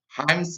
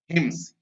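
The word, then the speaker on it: hymns: There she learned, और वहां उसने सीखा, सेवरल हिम्स, इसको भी कई लोग गलत प्रोनाउंसिएशन करते हैं, हाइम्स बोलते हैं, जो कि सही उच्चारण उसका होता है हिम्स।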